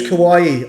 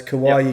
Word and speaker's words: Kawaii: say it oh okay that's kawaii i actually i spoke to his dad so it's like hawaii with a k so it's kawaii condon yep yeah yeah